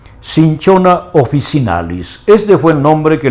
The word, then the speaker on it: Cinchona officinalis: Bien, el nombre científico de este arbolito es, pronunciándolo en castellano, Cinchona officinalis.